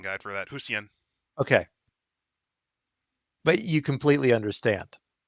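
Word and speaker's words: Hsien: Zen Gunman actually gave me a pronunciation guide for that. Husien.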